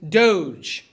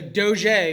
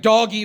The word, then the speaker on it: doge: underline this called a doge right you might hear it referred to as a doj or a doji right doggy would not be how i would pronounce that but you'll hear it